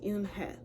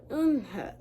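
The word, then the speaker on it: Unhei: "Yes, it's pronounced Unha. And it means grace," Mr. Kim added. "Unha," Joey said slowly, and this time perfectly.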